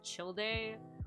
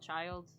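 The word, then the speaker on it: Childe: three names but um technically speaking the pronunciation is chill day um but i called child um and a lot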